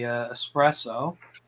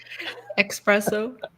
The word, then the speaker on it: espresso: 50 you have the espresso because I pronounce it correct directly there's no X in there you people um that just bugs the hell out of me espresso yeah um so you